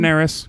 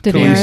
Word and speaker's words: Daenerys: Daenerys, Daenerys.